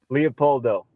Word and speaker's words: Leopoldo: And I'm glad I heard you say it, because I was pronouncing it completely not Leopoldo. Say it for me. Leopoldo. I am saying it. Okay, Leopoldo Great.